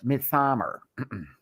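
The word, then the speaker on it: Midsommar: I have to say it like that. Not Midsummer. Midsummer.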